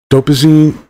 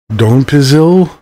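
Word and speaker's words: donepezil: involved with memory and learning these drugs include dopazine uh oh I'm sorry Don pizil Rivas dignin and galactamine I get to see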